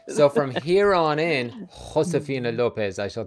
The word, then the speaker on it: Josefina: It's Josefina. Sorry, I know. Everyone has always mispronounced my name growing up.